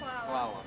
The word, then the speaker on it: Hvala: Hvala.